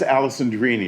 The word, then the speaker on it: Alessandrini: And it's Alessandrini. It rhymes with meanie and teeny, words we don't like to rhyme.